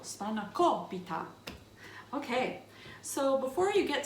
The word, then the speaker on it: Spanakopita: put spinacholpita together and that's how you say it too you have to put the accent on the right syllable spanakobita okay so before you